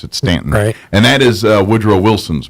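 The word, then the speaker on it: Staunton: which they spell it Stanton, but they pronounce it Stanton.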